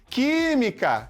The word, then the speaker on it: química: Química, química. Separa aí pra gente aqui, ó. Química. Qual é a sílaba mais forte? Opa. Última, penúltima, antepenúltima sílaba forte.